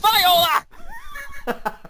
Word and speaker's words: Viola: ever oh my God pronounce my freaking last name wrong it's viola I don't care I